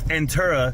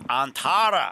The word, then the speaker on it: Antara: future price agreement with entera in addition to the conversion they whoa whoa bro you're saying it wrong it's antara where they were gonna